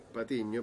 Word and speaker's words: Patiño: apellido porque en realidad mi apellido Patiño pero acá nadie pronuncia la ñ Así que prefiero sin